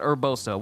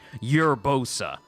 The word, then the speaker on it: Urbosa: we got mifa spear and then we got urbosa why is it that urbosa is the weirdest